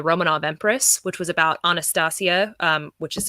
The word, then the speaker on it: Anastasia: to called the Romanov Empress which was about anastacio which is how you properly pronounce Anastasia in Anastasia Romanov and it was